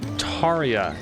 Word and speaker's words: Tia: So Tia is how that's pronounced apparently.